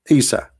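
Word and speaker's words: عيسى: You see, in English today, you are reading Isa, right? Like I, Isa. But this is not how it is in Arabic. It is Isa.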